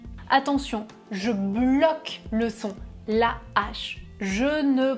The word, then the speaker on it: hache: Avec un H aspiré, il n'y a pas d'élision. Je laisse le mot en entier, la H. Attention, je bloque le son, la H.